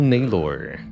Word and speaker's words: Naylor: your arrival foul evil naylor rhymes with baylor so the chosen is